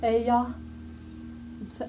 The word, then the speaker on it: Ai: Remember we talked about that in the first week. And Ai, some people said it's I, some people said it's Aya, on how you want to pronounce it, and it means a heap of ruins.